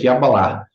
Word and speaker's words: Kabbalah: escrito Kabbalah com C, às vezes com K, a sua própria pronúncia é com Q, é Kabbalah, tá?